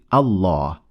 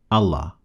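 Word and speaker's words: الله: On top of the second lam there is this symbol which indicates the existence of an alif afterwards. That's why we say Allah, not Allah.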